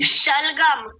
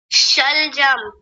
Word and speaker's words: शलजम: जल्दी शलगम शलगम नहीं वो शलजम होता है। बोलिए अब इसको बोल के बताइए। शलजम।